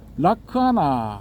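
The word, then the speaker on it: lakkhaṇa: 이제 특징에 해당되는 낙사나 락산화가 이제 빨리 오르는 라크 하나 이렇게 발음이 되거든요 락카나를 세 종류의 세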